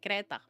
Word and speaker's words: Kreta: In Czech we just say Kreta.